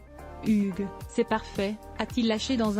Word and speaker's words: Hugh: tentatives infructueuses ce dernier lui a finalement recommandé de le prononcer à la française Hugues c'est parfait a-t-il lâché